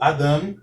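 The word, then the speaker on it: אָדָם: O segundo vocábulo é o Adam. Então, entendemos que a sílaba tônica é a última sílaba.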